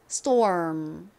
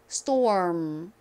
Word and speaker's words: storm: 다 물어 주셔야 돼요 storm 한 번만 더 해볼까요 자 다시 st 이렇게 발음하면서 입은음 이렇게 다물어 줍니다 storm이 rml 원어 발음으로 정확히